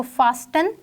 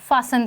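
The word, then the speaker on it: fasten: फासन your belt, ठीक है, अपनी बेल्ट को फासन कर लें, बांध लें, तो इसमें जो टी है वो एक साइलेंट लेटर है, हम इसको फास्टन नहीं पढ़ेंगे, हम इसे फासन पढ़ेंगे।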